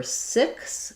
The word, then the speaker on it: six: So for six, it's just like sick, but with an S sound at the end.